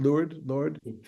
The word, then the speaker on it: Lourdes: How do you pronounce it? Lourdes, Yeah.